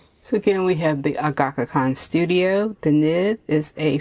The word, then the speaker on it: Agackakan: So again, we have the Agackakan Studyo.